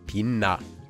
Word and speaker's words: 빛나: So for this word, the chiat changes and becomes a nian too, and we get 빛나.